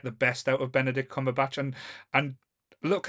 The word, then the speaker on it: Cumberbatch: his name now because remember when this first came out all the different pronunciations or we everyone used to say it used to be cumber snatch bu buber stats oh po Benedict no one knew how to see it at the start